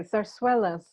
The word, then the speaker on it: zarzuelas: so in spain they had these things called zarzwell is is that correct it is yeah okay could you say it for me again because i i often mispronounced no that's okay sarsuelas zarzuelas are um spanish operas they're like um